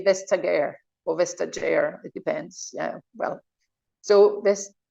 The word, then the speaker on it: Vestager: Vestager, because in Brussels everybody say Vestager or Vestager. It depends. Yeah. Well, so can you repeat it? That we learn it. Phil? Vestager. You Vestager. don't pronounce the T. The T is silent in Danish.